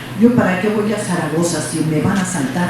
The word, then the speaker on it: Zaragoza: Chamagosa. Nada más vean, o sea, ganas de molestar las hay. Sí, pero me dejo molestar o simplemente aclaro, no te equivocaste, es Zaragoza, no sabes pronunciar la Z y entonces ya con